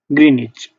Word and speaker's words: Greenwich: Greenwich meridian, pronounced Greenwich.